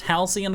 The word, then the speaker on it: Halcyon: But the amulet drop is pure profit, so it's pronounced Halcyon according to chat, so not bad.